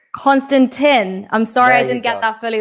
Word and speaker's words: Konstantin: It's pronounced Konstantin, by the way. Konstantin.